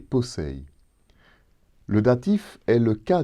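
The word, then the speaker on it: πόσει: Dans le passage de Colossiens 2,16, ils sont au datif et se prononcent brosei et posei.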